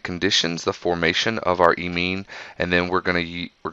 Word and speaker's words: imine: of an amine right it is spelled with an i but you pronounce it as an e so e mean right so here we go I mine so this I mine